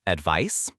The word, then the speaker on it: advice: Think, can I get some advice?